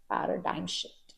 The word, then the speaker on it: paradigm shift: are saying Paradigm Shift of course the spellings don't follow the pronunciation but this is how we pronounce it Paradigm Shift you can use this